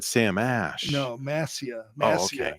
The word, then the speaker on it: Mascia: Masha. Oh, Masha. I thought you said Sam Ash. No, Massia. Oh, okay. Mascia.